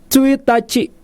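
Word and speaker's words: ついたち: boleh ikuti ulang ya pertama tanggal satu tsuitachi bukan tsuitachi bukan tweet aciah tapi tweet Aci seperti mengucap huruf hijaiyah misalkan huruf hijaiyah tuh ada Alif Ba Ta Tsa saat gitu saksak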